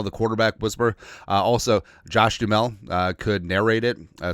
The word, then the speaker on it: Duhamel: Oh, also, so, the video couple days ago I called him Josh Duhamel as opposed to just Josh Duhamel because the ha is silent.